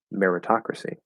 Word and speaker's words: meritocracy: to the dictionary um so you you can say meri or mehra and it does not matter um because it's unstressed